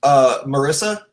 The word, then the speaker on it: Marysa: So this week, is your name pronounced Marysa?